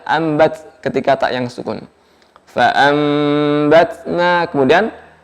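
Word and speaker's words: فأنبتنا: Fa'ambatna, kemudian ketika nun mati bertemu ba, ambatna, maka nun diganti dengan mim ya. Hanya saja pengucapannya tidak terlalu merekat di bibir ya. Ambatna jangan terlalu merapat dan keras ya. Fa'ambatna fiha habba.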